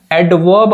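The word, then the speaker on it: adverb: भी क्या आता है एडवर्ब आता है इसको एडवर्ब नहीं पढ़ेंगे इसको क्या पढ़ेंगे आप एडवर्ब पढ़ेंगे यहां पर भी जो आर होता है वो क्या होता है साइलेंट होता है एडवर्ब पढ़ाएंगे इसके हिंदी क्या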